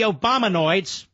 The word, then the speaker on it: Obamanoids: How the Obamanoids, rhymes with hemorrhoids, how the Obamanoids all